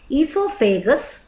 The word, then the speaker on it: esophagus: Digestive tract is a long twisting tube that starts with the mouth and then involves the structures like esophagus, O pronounce ಮಾಡಬಾರ್ದು, esophagus, stomach, small intestine, large intestine and finally ends with the anus.